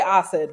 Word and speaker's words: OSID: So we say OSID because it is a mouthful.